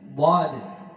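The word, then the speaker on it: ض: Dhad ini pengucapannya punya sifat yang satu beda dari huruf-huruf yang lain, namanya al-istital, al-imtidad, jarius sawt inda nutqi bil harf. Jadi suara memanjang mulai dari permulaan lidah hingga penghabisan lidah.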